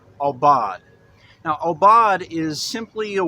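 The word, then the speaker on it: עָבַד: the Hebrew word we're talking about today is pronounced al bawd a bawd go ahead and say that all bod now Obot is simply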